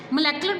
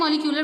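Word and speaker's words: molecular: बेटा इसकी 2 जो है वो प्रोनाउंसिएशंस हैं, मोलेकुलर बायोलॉजी भी कहते हैं और मॉलिक्यूलर बायोलॉजी भी कहते हैं।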